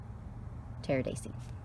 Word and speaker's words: Pteridaceae: And the family is the Pteridaceae, P-T, the P is silent, P-T-E-R-I-D-A-C-E-A. Pteridaceae.